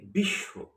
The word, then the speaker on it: বিশ্ব: আবার যদি বলি বিশ্ব যেখানে স এর সঙ্গে বফলা রয়েছে। এখানে কিন্তু বফেলা উচ্চারণ হয়নি।